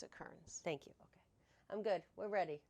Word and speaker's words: Kerans: so when i when i people calls you no well that's another way they say it